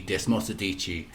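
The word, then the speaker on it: Desmosedici: Moss e d g Des mosadichi that's how they say it so that's how I'm gonna say it I tried to read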